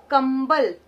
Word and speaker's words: कंबल: तो हमें पता चल गया कि क के ऊपर जो बिंदु है उसमें कौन सा उच्चारण करना है? आधे म का उच्चारण करना है। तो हमारा शब्द बनेगा कंबल।